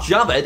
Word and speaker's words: Jawed: start saying it correct it just it looks like it would be called jawed what the w jabbed is the correct pronunciation of youtube co-founder javid karim's first name yeah still don't believe